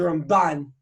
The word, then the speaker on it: Ramban: So the way they say is, you have the Rambam, you put the accent on the first syllable, then you have the Ramban, you put the accent on the second syllable.